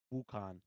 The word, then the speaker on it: Wukong: it in black myth wukan Kong it's NG at the end we got your our